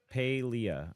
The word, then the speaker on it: Palia: And yes, it's pronounced Palia.